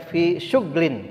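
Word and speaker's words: في شغل: Dalam riwayat Ibnu Katsir dan Abu Umar berkata, kata syugulin, fi syugulin, ini dibaca dengan sukun, ya, berarti dibacanya fi syuglin. Ini dalam qiraat yang lain.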